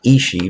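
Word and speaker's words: aos sí: Leprechauns are part of a category known as fae or ishi, pronounced ishi but written A-O-S-S-I, are considered people of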